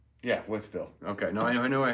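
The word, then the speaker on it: Wytheville: It's Withville, right? Not Whiteville, Withville in Virginia.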